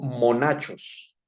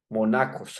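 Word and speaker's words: μοναχός: Entre otras, la palabra monje, de hecho, ustedes lo saben, la conocen, quiero decir, viene del griego monachos, monacos, algunos pronuncian eso así.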